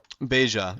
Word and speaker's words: Beja: I will go to Beja next. I'm assuming it's the Spanish pronunciation, like Baja, California.